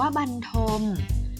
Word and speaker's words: บรรทม: ด้วย ไม้ เป็น ต้น บรรทม ออก เสียง ว่า บรรทม แปล ว่า นอน ค่ะ